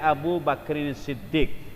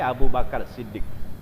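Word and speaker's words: أبو بكرٍ صديق: Bacanya Abu Bakrin Siddiq kalau dengan Arab. Kalau dengan bahasa Indonesia Abu Bakar Siddiq.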